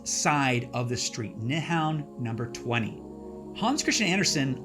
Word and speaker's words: Nyhavn: Now, it's spelled like this, but it's pronounced more like Nyhavn.